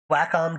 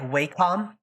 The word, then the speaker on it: Wacom: Like, it's technically pronounced Wacom? Or what? It's something dumb. Like, it's not pronounced how it looks, but everyone just refuses. Yeah. Mm-hmm. Like, it's written as, like, Wacom, but apparently it's Wacom.